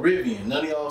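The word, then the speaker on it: Rivian: vivian i mean oh i've been saying the damn name on this riven not revealing i've been spelling it wrong and saying it wrong so it's called ribbian none of y'all said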